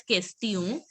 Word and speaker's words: question: So in French, you pronounce it as question. The O which you pronounce, it has to be a nasal sound.